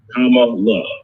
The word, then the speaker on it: Kamala: make sure you know kamala uh we always want to say her name right so senator kamala harris right i always tell people come on look right that's because i think